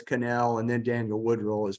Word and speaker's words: Connell: Evan s Canal so you're probably looking at uh that name and thinking that it's pronounced Connell I I would assume that too that in fact his family use a pronunciation so it's canel and then Daniel Woodrow